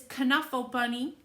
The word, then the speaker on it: Knuffle: by mo willems now the k can either be c or it can be silent when i talked to the author he said he likes to call um this caneful bunny but often the k